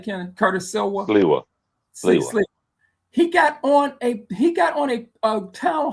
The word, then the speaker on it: Sliwa: I said his name Silva, the candidate for New York mayor from the Guardian Angels. How you say his name, Kenneth? Curtis Silva. Sliwa.